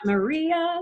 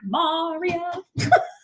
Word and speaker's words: maria: You can't sing it the way it was written for West Side Story because the accent is on the wrong syllable. How does he say that again? It's not Maria, it would be Maria.